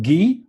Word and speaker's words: Guy: It's pronounced Guy, the French way.